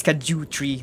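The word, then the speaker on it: Scadutree: I'm still gonna still pronounce that as Skadju Tree, not Shadow Tree.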